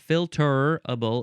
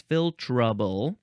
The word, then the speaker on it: filtrable: also spell it filterable you're getting rid of the E so it's not filterable it's filtrable uh this is an adjective